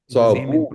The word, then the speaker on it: صابون: In my pronunciation, there is no difference between sad and sin. Sabun. Sabun. But I was trying to look. I was trying to hear the oo sound on the ba, because in Hindi and